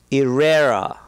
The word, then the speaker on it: Irrera: Irrera.